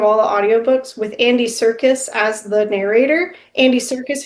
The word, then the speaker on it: Serkis: Andy Serkis? Andy Serkis. But not circus like. But not spelled like circus.